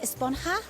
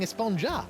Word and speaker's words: Esponja: It's pronounced Esponja with an H sound at the end. Really? But we've all been saying Esponja.